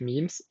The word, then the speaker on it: meme: to pronounce the term meme. Suggestions range from meme to meme and meme, whereas Dawkins provides clear instruction in his definition. It should be pronounced to rhyme with cream.